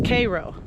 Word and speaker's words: Cairo: USS Cairo, and now I looked online for pronunciation because I wasn't sure if you pronounced it the same way they did in the Cairo, the city. So, but according to Google, it's Cairo.